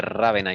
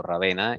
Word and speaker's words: Rávena: aparece el arzobispo de rávena italia o rávena igual se pronuncia alguna u otra forma es válido el arzobispo de rávena